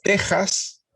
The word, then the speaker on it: Texas: acá es oaxaca y lo mismo texas es tejas y lo mismo todas